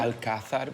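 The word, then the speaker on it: Alcázar: the city welcome to the Alazar thank you alad with a Spanish pronunciation this word comes from Arabic the translation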